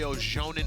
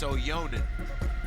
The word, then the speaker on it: Ojanen: I rock with him, but I've been calling that boy Ojanen for so long. And I was like, yo, people are like, yo, bro, you still getting his name wrong. So it's finally, I think it was the Jaakko I got right, and it's Ojanen. Jaakko Ojanen.